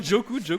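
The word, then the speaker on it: Doku: Dans Téléfoot, Jérémy Djokou, ou Djikou, je sais plus. Non, Djokou.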